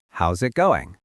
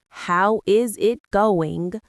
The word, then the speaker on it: how's it going: We don't say, how is it going? Right. If you want to sound fluent, you have to link the words. It sounds like one word.